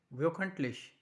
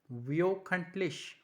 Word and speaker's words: wöchentlich: Weekly, that means wöchentlich. Now O is basically carrying umlaut. That means E plus O. So it sounds like EO.